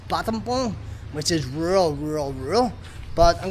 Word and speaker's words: Battambang: How we would pronounce it in English, it's actually pronounced Battambang.